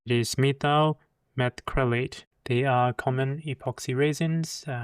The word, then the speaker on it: methyl methacrylate: And I need to pronounce his name correctly. It is methyl methacrylate.